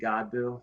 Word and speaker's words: Godbout: Godbout. Yeah, it's French, believe it or not. Is The T France? is silent.